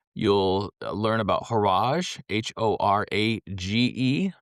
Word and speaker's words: Horage: You'll learn about Horage, h.o.r.a.g.e. Rhymes with garage.